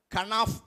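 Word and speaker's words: כנף: அப்போ இந்த சட்டை அப்படின்னு சொல்லும் பொழுது நான் போட்டிருக்கேன், எபிரேய மொழிகளில் கனாஃப் அப்படின்னு உச்சரிப்பாங்க.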